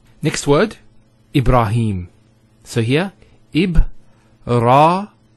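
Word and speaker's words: إبراهيم: here Heba a rah notice here the rock that ha followed by the Elif once again it's a a long vowel e brah no II bruh libera libera and then him Ibrahim he the Hat has a Kara followed by the air so here is the elongation of the e sound its he him Ibrahim similarly here we have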